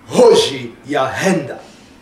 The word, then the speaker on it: Hoji Ahenda: My name is actually Hoji Ahenda, and the Hoji Ahenda, you have to pronounce it as if you would be replicating a thunder, so it's got to be Hoji Ahenda.